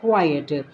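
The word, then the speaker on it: quiet: Would you mind keeping क्वाइट, क्वाइट, pronunciation है क्वाइट।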